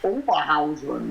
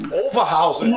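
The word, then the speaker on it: Oberhausen: You got to say it with a German accent in English. Overhausen. Overhausen. Yeah. You got it perfect. All right, and of course there's a little. The town is Overhausen, but when we came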